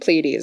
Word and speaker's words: Pleiades: pleiades lacks the Pleiades I think Pleiades is how you're supposed to pronounce it I'm sorry for anybody